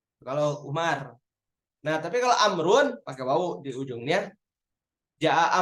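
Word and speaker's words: عمرو: Tapi kalau ain mim ro wawu Amrun itu.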